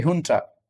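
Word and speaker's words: junta: ये भी जे नहीं है, ये यो या हो के तौर पे प्रोनाउंस होता है, मिलिट्री हुंटा। तो इसको जुंटा कहते हैं।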